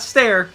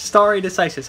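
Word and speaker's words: stare decisis: is how you say it's not stare it's sorry it's star it's starry decisis i learned this you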